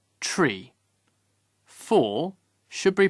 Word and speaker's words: three: one one two two three is pronounced tree four should be pronounced